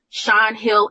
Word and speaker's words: Sean Hill: Sean Hill Entertainment. Because y'all be wanting to throw W's and U's and O's in there. And I be like, no, it's spelled Irish. Sean Hill.